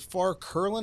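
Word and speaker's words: Curlin: and the healing profession that you wrote with far klin is that the correct pronunciation that's right okay and and I'll tell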